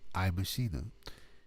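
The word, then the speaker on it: iMaschine: That's IMACHINE. It's pronounced iMachina.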